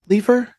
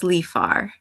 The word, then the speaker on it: Leafar: Elhoem Leifer? Am I getting in the right ballpark there? I believe it's Elohim. Elohim. Um, Okay. Elohim Leafar? I believe it's Lifar.